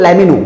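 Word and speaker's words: let me know: ऊपर था लेट मी और यहां पे क्या है, लेट मी नो, तो इससे बोलते हैं लेमिनो।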